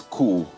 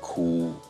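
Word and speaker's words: Koo: app, I keep wondering, is this like a coup d'etat or coup? But clearly it's spelled differently, pronounced the same. How does it? It sounds like the sound of a bird. Oh, right. It's like the sound of a particular bird.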